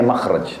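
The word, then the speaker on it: مخرج: Inggris kan exit ya bahasa Arabnya itu mim Kha ra Jim bacanya makhraj Kenapa digunakan kalimat itu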